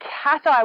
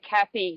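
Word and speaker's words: Cathie: tourist no local Lake cat ey local Lake catti which is often pronounced like Kathy don't say like Kathy to the locals that's how we know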